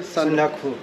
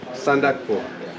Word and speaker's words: Sandakphu: It's going to be trekking all the way to, how do you pronounce this, brother? Sandakphu. Sandakphu.